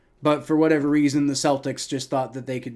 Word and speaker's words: Celtics: should be it should be the Celtics like cake not Celtics like Circle right it that that's